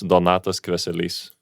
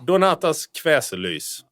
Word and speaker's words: Donatas Kveselys: Just my first name and my last name, so it's Donatas Kveselys. That's it. DONATASKVESELYS. Perfect. Wow. Perfect. Well, you really need, I mean it. I think we will tag you in Donatas Kveselys.